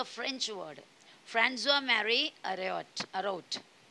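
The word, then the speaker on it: François: देखो प्रोनाउंसिएशन में थोड़ा सा ध्यान देना. वॉल्टेयर्स ओरिजिनल नेम, वॉल्टेयर का रियल नाम है फ्रांजुआ. ये देखो फ्रांजुआ पड़ता है उसको, सी के नीचे एक एस जैसा छोटा सा एक पार्ट है, बराबर दिख रहा है.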